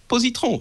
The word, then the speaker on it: Positron: You don't say it like this, but it's Positron in French.